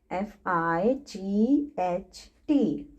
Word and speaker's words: fight: आप देख सकते हैं कि G और H लेटर्स को मैम प्रोनाउंस नहीं कर रही हैं. मैम उनकी साउंड नहीं निकाल रही हैं. क्यों? क्योंकि वो इस वर्ड में साइलेंट है. इन सभी वर्ड्स में GH लेटर्स साइलेंट रहेंगे. Okay, I is having long I sound and GH letters will remain silent.